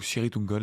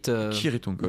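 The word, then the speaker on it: Cirith Ungol: Gandalf explique qu'au nom de Kirit ou Sirit-Ungol d'ailleurs, je ne sais plus ce qu'on avait décidé. C'est Kirit. Kirit-Ungol. D'après Tolkien, ça se prononce K.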